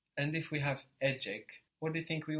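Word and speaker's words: ecek: have a AAC good this is spelled e c e k or a c a k so we see that the C in Turkish makes a j sound J so how do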